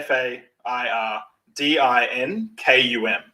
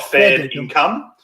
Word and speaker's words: fair dinkum: nice saying, and it's fair dinkum. I love this one. Yeah, so fair dinkum. This one. Good. So to spell it for people, fair, FAIRDINKUM, right? Fair dinkum, not fair income.